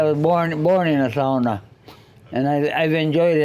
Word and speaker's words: sauna: is the big thing it's pronounced SAA it's so warm in